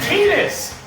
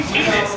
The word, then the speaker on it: Tidus: from Final Fantasy X, you pronounce it Tidus, because the Japanese don't know how to pronounce everything in English. I'm not even kidding. The name is supposed to be Tidus, even though it's T-I-T-U-S. Tidus.